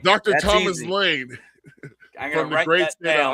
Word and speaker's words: Laehn: Yeah, it's pronounced Laehn, like L-A-N-E. Okay, I got that. Laehn. Dr. That's Thomas easy. Laehn from the great state of Iowa.